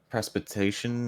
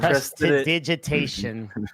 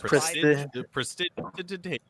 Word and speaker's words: prestidigitation: Precipitation or precipitation? Prestidigitation. It Yeah, took me like 5 years of playing D&D to be able to pronounce that. Took me like Prestidigitation.